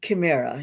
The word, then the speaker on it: Chimera: process you notice that my last name is pronounced Kera it's from the same language as keante so it's pronounced with a K instead of a a CH sound today I'd like to